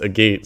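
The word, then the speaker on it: Agate: of a gate Village I learned it's pronounced a gate since last time I just want to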